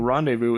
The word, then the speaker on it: rendezvous: in case you're wondering rendezvous is an old French word that means the Z is silent so the fur trade